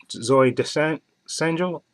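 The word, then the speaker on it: Zooey Deschanel: a really great movie uh Joseph Gordon Labette Zoe descent essential that's how you say her name okay and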